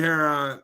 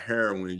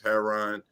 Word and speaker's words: Herron: And it's like, man, I don't want to say that, but that's your name, and it's not heroin, you all, it's Herron. I might even be pronouncing that wrong, but if I left